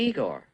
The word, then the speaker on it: Igor: say you must be Igor now it's pronounced I go but they told me it was Igor well they were wrong name weren't they and